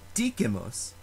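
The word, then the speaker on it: dicimus: However, the word Dikimus, we speak, has a short vowel in the second to last syllable, and that short vowel is followed by only one consonant, that letter M.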